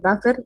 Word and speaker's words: buffer: Sí, Buffer. buffer se escribe, pero se dice buffer.